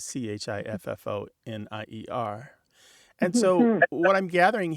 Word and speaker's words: chiffonier: And then that lovely French word that you share, chiffonnier, is chiffonier.